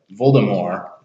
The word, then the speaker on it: Voldemort: Just like Voldemort, you don't pronounce the T.